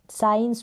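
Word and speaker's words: science: S का तो उच्चारण आ रहा है स से, साइंस। C क्या है, यहाँ पर साइलेंट है।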